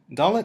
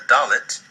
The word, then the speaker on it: Dalet: Like Beit and Gimel, Dalet has two pronunciations. With the Dagesh, it sounds like D in dog. Without the Dagesh, it sounds more like a soft D, the.